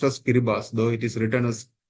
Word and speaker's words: Kiribati: So you can find that a country in Pacific Island, Kiribati, it is pronounced as Kiribati, though it is written as Karibata.